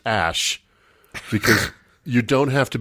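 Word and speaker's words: X Æ A-12: Apparently, it's pronounced Ash, because you don't have to be in a cult to be stupid.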